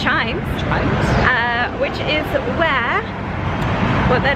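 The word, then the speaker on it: CHIJMES: So now we're off to, I think it's pronounced Chimes.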